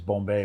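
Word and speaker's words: Bombe: I digress into the proper pronunciation of Alan Turing's Bombay machine, but go ahead.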